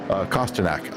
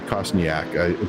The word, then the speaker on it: Kostanak: He's only about a half a second off of Kostanak. I almost said Kostniak, but I said it right.